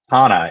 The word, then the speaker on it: Tana: Yeah, the name is Italian. It's kind of a unique name in Italian. I think it means burrow. And uh Tana is how it's pronounced in Italian.